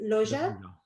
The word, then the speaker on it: Loggia: Well, besides Tom Hanks, Big also stars Elizabeth Perkins, which she was great in this role, and Robert, how do you pronounce his name? Loggia.